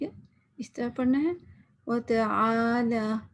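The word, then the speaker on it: وتعالى: وتعالی، آئین کو واضح کرنا ہے. یوزلی ہم کیا کہتے ہیں، تالا تو نہیں ہے نا.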